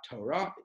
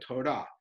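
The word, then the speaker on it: תורה: Usually in Hebrew, the emphasis is on the last syllable of the word, right, which is called milara. And so that's like the word Torah, right? Not Torah, but Torah. Not Shabbat, right? But Shabbat, right?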